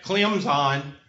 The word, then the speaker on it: Clemson: got a junior and Clem's on you can't pronounce the T if you pronounce southern